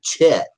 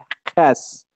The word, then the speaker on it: chet: So there's you're talking about the chet. The chet. I'm being funny. Or if you're Ashkenazim, they say ches with a ches. They don't say chet.